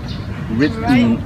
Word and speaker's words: written: And this is written.